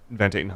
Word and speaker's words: Van Tatenhove: Van Tatenhove? Van Tatenhove.